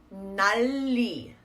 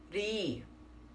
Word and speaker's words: 날이: It goes 날이, or should be read as 날이. Notice that pause I'm doing, that deliberate pause I'm doing to really test myself that I'm not pronouncing that L twice. So it's not 날리, 날리, yeah? 나리, 나리.